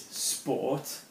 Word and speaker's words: sport: a spa which is Sport okay notice we're not pronouncing the T as per nor because